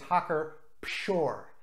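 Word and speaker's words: Hacker-Pschorr: this beer brand is hawker shore with a P the P is pronounced in German the German alphabet has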